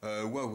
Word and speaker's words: Huawei: bon ça se présente ça se prononce plus ou moins comme cela on peut dire waouh est donc ça s'écrit